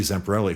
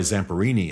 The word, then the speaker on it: Zamperini: She just She just was telling this amazing story of Louis Zamperelli, who by the way, I'm sorry, Zamperini is the way it should be pronounced, and he's still alive.